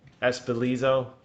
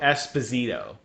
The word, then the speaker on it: Esposito: i can't uh what's his name john giancarlo espelizo oh my god i totally butchered this poor guy's name you know what i'm talking about john i'm gonna try i'm reading it here giancarlo esposito he is a phenomenal actor i love this